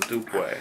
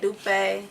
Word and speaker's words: Dupe: Dupe. Slang way to say it, Dupe, but Right. legally correct is Dupe.